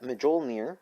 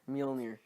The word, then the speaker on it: Mjolnir: we know is that medjool near Thor's hammer is coming in here get it right pronunciation you open the OL near Mjolnir alright and also a theory